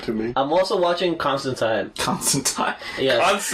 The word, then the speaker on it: Constantine: I'm also watching Constantine. Constantine. Yes. Is that how they pronounce it on the show? Yes. It's actually Constantine.